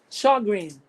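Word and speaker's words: Sjögren: It's spelled Sjogren, correct? It's pronounced as Sjogren.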